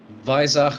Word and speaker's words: Weissach: So it's going to be Mercedes versus Porsche, Weissach versus Affalterbach, and that is the correct German pronunciation, hence the German introduction earlier on this afternoon.